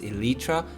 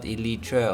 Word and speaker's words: Eletre: i'm saying it wrong lotus's own website says it's elytra and not elitra or whatever yeah so don't that